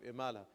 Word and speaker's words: Imala: something here called the Imala phenomenon, okay? The Imala phenomenon. So Imala is a particular way of pronunciating certain vowels. It's basically the inclination of the alif towards the ya sound.